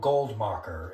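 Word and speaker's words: Goldmakher: one is by a fellow named uh Leo goldmocker and it's spelled l-e-o g-o-l-d-m-a-k-h-e-r and it's a paper titled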